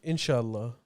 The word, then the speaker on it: inshallah: Inshallah.